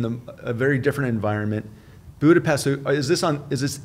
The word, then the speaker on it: Budapest: family together and uh it was it in Budapest Budapest yeah I grew up in Budapest how do you pronounce it the right way cuz I know